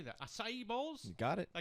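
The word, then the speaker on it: açaí: Acai bowls.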